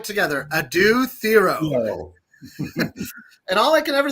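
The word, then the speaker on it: Adou Thiero: And let's all say it right together: Adu Theoro.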